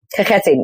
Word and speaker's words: Kakheti: When it comes to the main region, Kakheti, as correct me if I'm saying it wrong, by the way, because Kakheti, yeah, it's the H. The H is a rough one.